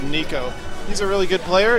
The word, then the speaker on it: Nicko: avoiding me versus Nico spelled to Nick oh but pronounced Nico he's a really good